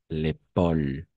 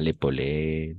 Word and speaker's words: épaule: L'épaule. L'épaule, pas l'épaulé, l'épaulé, non. L'épaule. E à la fin, on ne prononce jamais.